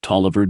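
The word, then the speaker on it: Taliaferro: The primary architect of the idea was Dr. Tlayia Pharaoh Clark pronounced Taliviver Dia.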